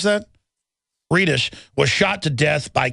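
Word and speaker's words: Redus: old honor student robert cameron reddish is how they pronounce that reedus was shot to death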